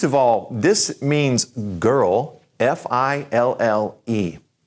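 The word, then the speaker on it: fille: all this means girl fi ll e when you end a word in French with ll e it's just kind of a you sound so fi ll e sounds like this she see you and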